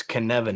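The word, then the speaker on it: Cynefin: valuable it's called the Canan framework so you you might not know how to say that word it's Canan it rhymes with Kevin as it turns out and here's what this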